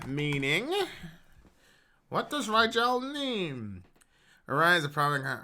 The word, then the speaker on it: Rigel: is Ebert Orion Balthazar Orion Vader hmm that's pronounced Rigel what does that mean Rigel yeah it's one of the stars in the